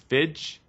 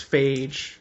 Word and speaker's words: Feige: I'm going to say his last name wrong. Feige. I think it's Feige.